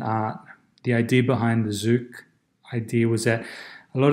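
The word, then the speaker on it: Xook: moment as well is zook which is spelled x double ok and that's a project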